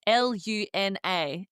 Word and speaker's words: luna: And Luna is spelled L U N A, but we're pronouncing it Luna. Like as if it had a double O. That U makes that double O sound.